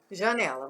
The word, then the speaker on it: janela: Janela, vamos ver. Janela, janela, janela, janela, jané. Ó, o né vai lá em cima. Então, a sílaba tônica de janela é o né.